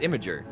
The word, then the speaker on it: Imgur: You guys say Imgur? I'm gonna Yeah. now. What are you talking? Oh, Imager. Yeah, Imager, yeah. Yeah, no, it's Imager. Yeah, but like it's spelled Imgur.